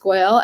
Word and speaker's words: Goel: g-o-e-l underscore um and my last name is pronounced goyal and so yeah that's my instagram pretty much